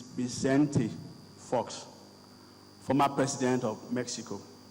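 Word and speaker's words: Vicente: Saints of incentive faults most of us will call him being sent but Richard tells me that and I actually did ask him this morning the correct pronunciation of his first name it is byzanti Fox former president of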